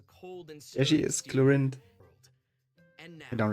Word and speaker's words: Clorinde: And hey everyone, the voice of Fontaine's champion duelist, Clorinde. Pew pew pew, let's get Okay, Clorinde is how she pronounces it.